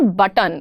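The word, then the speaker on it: button: इट्स नॉट बटन। बट और टन अलग-अलग words नहीं हैं। इट्स बटन। बटन। टी एंड एन R actually blending.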